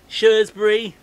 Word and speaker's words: Shrewsbury: shirts bridge show spring shrewsbury and shrewsbury yeah that that is the or shrewsbury you got shrewsbury you got shrewsbury suresbury as um got rougely